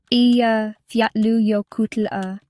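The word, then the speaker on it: Eyjafjallajökull: Af Jalajoku pronounced roughly Fatlu Yokut.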